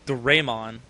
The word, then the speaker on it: Doraemon: I feel more comfortable enunciating it as... I said enunciate. Let's see, look, there you go. Enunciating it. Pronouncing it as Doraemon.